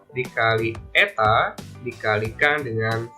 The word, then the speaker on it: eta: Dengan keterangan R menyatakan jari-jari dalam satuan meter, simbol dari viskositas dibacanya eta.